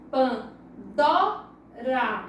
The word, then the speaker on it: Pandora: A palavra Pandora, vamos ver qual é a sílaba mais forte? pan, dó-ra. Então o dó, ela é a sílaba tônica, porque ela é a sílaba mais forte.